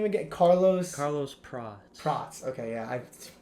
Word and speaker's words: Prates: Carlos Prates. Prates. Okay, yeah, I butchered it before the pod, just so you guys know.